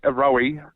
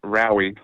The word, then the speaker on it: Rowy: actually my partner's name her name is row rowy yeah but her she does get called Rowe okay so rowy in